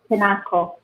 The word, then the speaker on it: kinako: Okay, and so your love letter to your wife is the kinako.